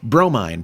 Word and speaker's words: Bromine: and the Piggy Runt, Bromine, pronounced Bro, Mine, Cat, Mother of Pearl,